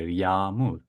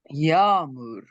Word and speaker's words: yağmur: We never pronounce this letter. We just Okay, make the previous vowel a little bit longer.